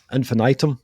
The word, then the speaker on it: infinitum: Is that how you pronounce it? Infinitum? Infinitum.